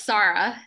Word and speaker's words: Sarah: Oh, it's Sarah. The emphasis is on the first syllable.